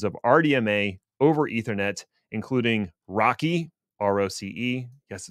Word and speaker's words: RoCE: unfortunately the implementations of RDMA over ethernet including Rocky rce yes it's pronounced Rocky deepai and iarp which I'm sure stands for